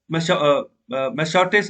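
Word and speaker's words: Massachusetts: की बात करते हो, जो न्यू जर्सी है, मैसाचुसेट्स, ओके, इसकी प्रोनाउंसिएशन ठीक कर लेना।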